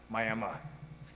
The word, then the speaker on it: Miami: Spelled the exact same way, but just pronounced different. Miami. That's how you do it in Oklahoma.